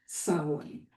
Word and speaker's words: Samhain: And it's a time when the ancient festival of Samhain, it's spelled quite differently, but it's pronounced Samhain. Samhain is pronounced Samhain.